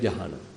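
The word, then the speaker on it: jhāna: in in English so we put it like j h uh long A and N Jana so we pronounce it also like Jana I don't know at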